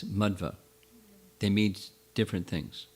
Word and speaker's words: Madhva: not first of all the pronunciation is not madhava but it's madhva they mean different things